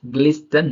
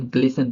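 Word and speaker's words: glisten: अब यहाँ पे ग्लिसन, ग्लिस्टन ना पढ़ के हम ग्लिसन पढ़ेंगे, जो कि यहाँ टी साइलेंट है।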